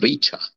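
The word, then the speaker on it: riĉa: Richa. Olha o R vibrando.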